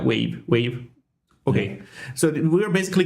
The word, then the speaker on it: WAV: How do you pronounce WAV? Like the file extension? WAV file. Yeah, wave.